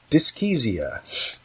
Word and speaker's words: dyschezia: So the next word is dyskesia. Moving right along. Dyskesia. Yes, it's spelled Dyschezia.